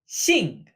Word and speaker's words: 兴: Xing. Pronounced just like last name, this character means mood or spirits in the way of one's, again, mood.